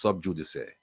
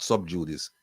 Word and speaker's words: sub judice: b j u d i c but it's pronounced sub judic not sub judice subj it's also pronounced Sub judice C or